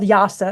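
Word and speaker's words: IIASA: he works at the it's called yasa is how the acronym is pronounced and he agreed to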